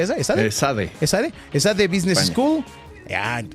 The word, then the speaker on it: ESADE: de posgrado en prestigiosas instituciones como, ¿cómo se pronuncia esa? Esade, esade, esade, business school.